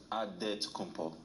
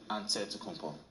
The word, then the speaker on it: Antetokounmpo: The Nigerian way, you gotta say with a D, so it's Antetokounmpo. But in the Greek way, you say with the NT, like Antetokounmpo.